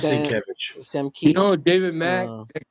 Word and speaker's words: Sienkiewicz: You mispronunciate Nate. It is Sienkiewicz.